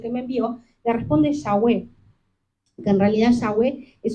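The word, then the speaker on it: Yahweh: de pronun digo teoría por qué la forma correcta de pronunciar esto es que para decir las primeras la primer sílaba de yahwe uno tiene que inhalar y para decir las últimas dos uno tiene que exhalar o sea que ya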